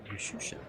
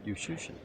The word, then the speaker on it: Juszczyszyn: It rhymes with musician. There you go. But he pronounces his name. He pronounces his name Yushushin. Musician. Yushushin.